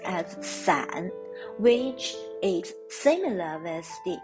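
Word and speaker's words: 伞: it's on brighter the umbrella in mandarin is pronounced as san which is similar as the apart in chinese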